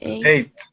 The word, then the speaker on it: ate: The past of the verb is pronounced as ate. So I eat pizza. I eat pizza. I ate pizza yesterday. 8, like the number.